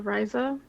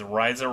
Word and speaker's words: Ryza: I was gonna say, in case anyone wasn't aware of what this game is, it's the Thigh game because Ryza rhymes with Thyza.